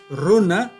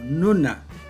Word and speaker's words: runa: Por ejemplo, runa es pronunciada esta palabra como nuna y muy común en el Callejón de Huaylas.